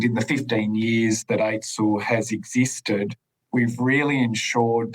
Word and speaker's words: AITSL: Before we get started, let's just break down the role of AITSL, which is pronounced AITSL.